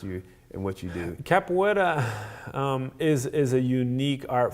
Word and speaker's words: capoeira: little bit so you're you're you're deep into capoeira capoeira I pronounce that right yeah Deborah wetter it's a